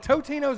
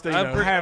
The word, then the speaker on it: Totino's: when you eat the Tostinos, is it Totinos or Tostinos? I think it's comment Totino's. above, people. I think it's Totino's. Oh, well, I've never called it Totinos. I've I think always it's called it Totino's. Tostinos.